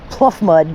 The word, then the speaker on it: pluff mud: Pluff mud, but pronounce it fluff mud.